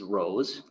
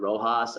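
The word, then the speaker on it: RoHS: ton of information is Rose I'm gonna pronounce it rose I've heard Rojas I've heard Rose I'm gonna say rose so it's a restriction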